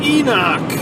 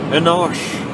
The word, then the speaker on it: Enoch: Come on down to Enoch. Maybe they want to like make it sound more sophisticated by saying Enosh. I like Enoch.